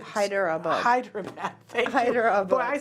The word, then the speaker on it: Hyderabad: We are from Hyderabad. Hyderabad. Thank you. Hyderabad. Boy, I saw that totally different than how it's spelled, didn't it?